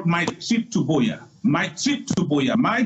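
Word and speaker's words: Buea: And then secondly, I want to appeal to donations also of what we call my trip to Boya.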